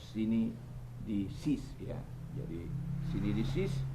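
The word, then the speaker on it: συνείδησις: Tapi membacanya sini di seos, sini di seos, sini di sis, ya.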